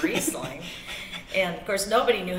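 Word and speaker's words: Riesling: dollar for every time somebody said risling instead of reing and of course nobody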